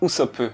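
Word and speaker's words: Usopp: n'est pas un hasard en japonais le nom du village se prononce chierope et housousop se pronce ousop les deux terminent par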